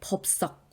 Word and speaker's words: 법석: 아니고 볼썽으로 쓰고요 위에 법석 이것도 우리 난리법석 할 때 썩이라고 된 소리로 발음하지만 이때도 역시 받침에 비읍이 뒤에 오는 시옷을 쌍시옷으로 바꾸는 된소리 되기가 일어날 만한 환경이기 때문에 그냥 법석이라고만 적어주는 거예요 또 오른쪽으로 한번 쭉